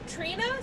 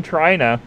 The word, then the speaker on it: Trina: little finished i oh trina sorry trina trina sorry i'm sorry even i've been pronouncing that wrong i've been saying china i'm sorry trina trina